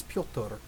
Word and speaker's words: Piotr: I believe it's Piotr. It's obviously supposed to be Peter, but Piotr.